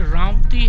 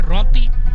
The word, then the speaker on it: रामती: रामती यहाँ का एक मेन एरिया है जो पहले ट्रैवल एरिया था, बेसिकली रामती है, लेकिन मकामी तौर पर जो लोकल्स हैं वो उसको प्रोनाउंस करते हैं रौती।